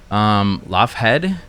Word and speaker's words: Loughead: used to actually be spelled like Lougheed, like the Loch Ness monster, Loughead, Loughead, the brothers.